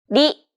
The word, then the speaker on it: り: Don't roll your tongue like an English R. Most of the air should go around the sides of your tongue, the same way it would when pronouncing an L sound.